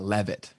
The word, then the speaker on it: Leavitt: i can't even get mad at people for pronouncing it leave it because it is spelt like that yeah but it is pronounced uh levitt okay perfect so levitt social media expert or how what do you